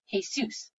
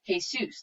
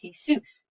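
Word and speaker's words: Jesús: Matthew took extra care to loudly and slowly pronounce Jessie's real name, Jesus, like the guy from the Bible, when it's really pronounced Jesus, like a bale of hay in Dr. Seuss.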